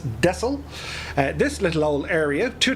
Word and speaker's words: Texel: make our approach here into texel or dessel depending on where you're from in the world the dutch i believe pronounce it as desil this little old area